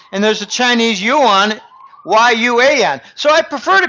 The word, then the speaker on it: yuan: because when you say Yuan you can I mispronounce it it's Yuan I've got Chinese clients who say Jim it's